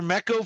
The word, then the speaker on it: NECA: Miko figures or Meko figures. How do you say those? Oh, Neko. Or Neko? NECA.